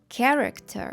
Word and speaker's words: character: ж це все помилки тому що в таких словах Ось ця H випадає і ми просто читаємо попередню літеру а саме к і тому буде headaake headaake chemist chemist character characterter також є кілька слів